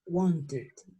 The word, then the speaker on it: wanted: Todas esas palabras que terminan en T, ¿sí? Yo las voy a pronunciar en pasado, las voy a pronunciar con id.